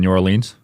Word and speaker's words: New Orleans: You said you grew up in New Orleans?